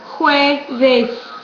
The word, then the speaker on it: jueves: First of all, this J is pronounced like in English, H, ho. And so then you're going to go, always when you see a word in Spanish, go to the vowels first. How does this vowel sound in Espanol? It's pronounced with an U. How is this vowel sounded? It's pronounced como E. This vowel is pronounced A. You put it all together.